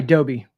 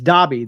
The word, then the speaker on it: Dobby: It's probably Dobie. I don't know why I always struggle with that. I always struggle with that. It's Dobby. That's what it is. D-O-B-B, Dob.